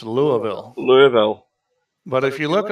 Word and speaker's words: Louisville: Hey, but it's like some towns in cities in America, like it's not Louisville, it's Louisville. Louisville. But if you look at the spelling, it's Louisville, but it's pronounced Louisville.